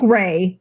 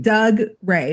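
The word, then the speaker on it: Dougray: D Gray. D Gray. It's like Doug Ray, but it's pronounced D Gray Scott.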